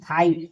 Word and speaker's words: fight: FIGHT फाइट, यहाँ GH silent है, क्योंकि इसके पहले क्या है, वॉइस यानी आई वॉइस है।